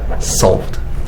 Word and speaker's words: solved: thing as well here this one over here z sound so resolved and this one s sound solved so the pronunciation is also different between these two solve or resol yeah